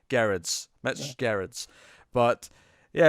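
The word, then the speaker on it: Gerads: Miracle number 11, obviously Mitch Gerrard's on the art as well. Sorry, Gerrard's. I should say Gerrard's. We know it's a hard G now. It's, Gerrard's.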